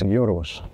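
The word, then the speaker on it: Γιώργος: It's in Greek actually it's Yorgos. Yorgos. Yorgos? George is the English version of the name, so I prefer George.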